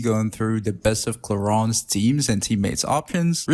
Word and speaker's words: Clorinde: Because it's in French, it's Clorinde. And then I'm not going to say like Clorinde every time.